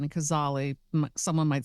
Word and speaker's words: Cazale: That great actor, last name is pronounced Gazzali, which would be more of the Italian, or Cazale. I think it's Cazzali, but I could be wrong. Cazzali, yeah. Cazale. Yes, that would be the Italian, and Cazzali, someone might say Cazale.